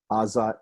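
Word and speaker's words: עזה: at all especially when in modern hebrew aza is um it begins with a vowel and we don't hear the first consonant at all the reason is actually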